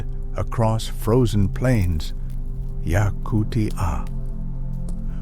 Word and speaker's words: Yakutia: Yakutia. Four syllables that contain a world most people cannot imagine.